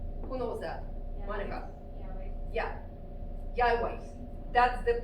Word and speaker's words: Yahweh: Yahweh. That's the pronunciation.